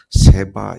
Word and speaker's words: 스바: 1절부터 12절 까지 말씀에는 스바 여왕 우리 c 봐 영이를 봤구요 세바 여왕 이라고 발음을 합니다 또는 쑤가 여왕이 솔로몬의